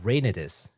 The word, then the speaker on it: Reynatis: their newest title uh rainis uh and and I think that's how it's pronounced u i just based it off of the Japanese pronunciation oh could you say